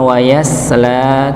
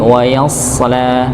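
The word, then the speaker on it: ويصلى: Maka sekali lagi pernah kita sampaikan maka jangan sampai kita membacanya dengan huruf huruf sin nggih. Huruf sin bukan wayasla tapi wayasala dengan huruf sh bukan huruf sin ya.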